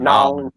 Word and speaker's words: New Orleans: I'll tell you what, if you're ever down around New Orleans, and I said it right, Howard, Nolans. New Orleans.